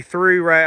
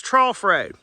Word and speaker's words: Trough: So people say through road. I mean, people mispronounce all the time. It's Trough Road.